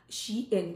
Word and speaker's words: SHEIN: किया था उसमें भी, तो इसको शी इन बोलते हैं। वो चाहते हैं कि हम उसको सही प्रोनाउंस करें, क्योंकि मुझे वो भेजते हैं तो मुझे बताते हैं।